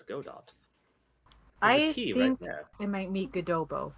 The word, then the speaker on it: Godot: practicing all night believe you're all saying his name wrong I'm pretty sure it's Godot think I might meet gdo but I I